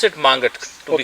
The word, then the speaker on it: Mangat: And Mangat, we pronounce it Mangat to be correct.